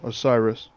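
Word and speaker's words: Oceiros: How do you pronounce his name? The consumed king. Oh, Osiris.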